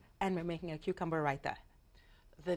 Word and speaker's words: raita: And the next two dishes, say them again because you pronounce them much better than me. So we're making a brown rice pilaf. Pilaf. And we're making cucumber raita.